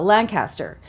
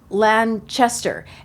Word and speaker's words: Lanchester: thought her name was Elsa uh Lancaster but it's Lanchester so I happened to